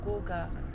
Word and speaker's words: Kuka: But they pronounce it Gogo and Kuka like G, but it's K. I think it's K-O-K-O. Or like Coco. And Kuka is K-U-K-A, Kuka. But it sounds like G.